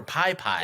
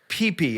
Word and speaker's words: Pipi: pee pee the cat is it PP or pie pie it's PP I if you look on the YouTube channel the pronunciation is in the description so it's PP it's PP um and PP is